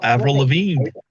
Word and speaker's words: Avril Lavigne: Avril Lavigne.